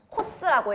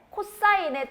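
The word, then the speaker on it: cos: 코스라고 읽으면 안 돼. 코사인의 줄임말이야.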